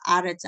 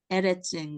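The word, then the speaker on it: ארץ: 그때는 이제 정관사가 앞에 있으니까 아레츠 하아레츠였는데 이때는 정관사 해가 없기 때문에 에레츠인 거예요.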